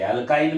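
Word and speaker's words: alkyne: अल्काइन में YNE present है. उसका प्रोनाउंसिएशन देखो, अल्केन, अल्कीन, अल्काइन.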